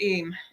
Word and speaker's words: Eyam: EYAM. Pronounced Eam.